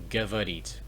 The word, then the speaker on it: говорить: So we have говорить, говорить. So the stress is on the e, so the o is pronounced as a, but anyway, говорить, which means to talk.